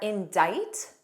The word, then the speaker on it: indict: Two other words with a silent C are indict and indictment.